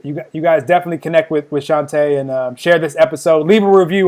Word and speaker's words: Shante: Shante, I got it forever now.